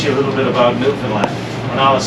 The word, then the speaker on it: Newfoundland: this than most passports these days and it's pronounced New Finland not New Foundland or New Finland New Finland is the oldest